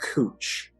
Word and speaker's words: Couch: is the mausoleum of era cooch c-o-u-c-h spelled like couch ira for the first